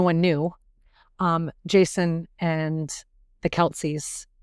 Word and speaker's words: Kelce: But, in case no one knew, Jason and the Kelceys, that is not how you're supposed to pronounce his last name at all. It is not pronounced Kelce, but that's what everyone says.